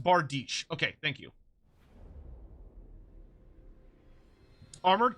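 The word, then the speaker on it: bardiche: they can get pretty pretty pretty good it's pronounced bardish okay thank you armored C with spear already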